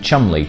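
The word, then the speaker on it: Cholmondeley: itself the three rings distillery is based in chumley cheshire and the only reason i know how to pronounce that word properly is thanks to the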